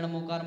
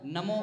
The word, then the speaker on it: णमो: है, हमें पढ़ा दिया नमो अरिहंताड़म, नमो सिद्धाड़म, नमो आयरियाड़म, नमो उपझायाड़म, नमो लोहे सब साउड़म, लेकिन जिनवाणी में क्या है, णमो ड़ का उच्चारण है, तो अर्थात यहाँ पर बोल दिया है निसर्गज।